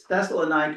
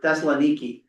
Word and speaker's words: Thessaloniki: Greek and the English, going Thessalonica, which nobody says that. It's Thessalonica or Thessaloniki. Like I said, so if you're going to Greece and you go to Thessaloniki, and you go to Thessalonica, it's Thessaloniki. Yeah, and I also found